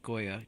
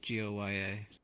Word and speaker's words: Goya: Seesaw Francis De Goya. Goya. Let's see what Google How do you spell it?